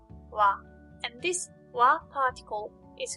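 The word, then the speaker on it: は: The next character is ha. When it's used in a word, it should be pronounced ha. However, when it is used as a particle, it is pronounced wa.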